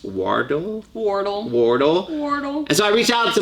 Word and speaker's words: Wardle: what about and your last name is pronounced wardo so I reached out